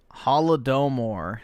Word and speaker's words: Holodomor: pronounce that wrong. All right, awesome. Thanks, nigga. All right. There we go. Holodomor.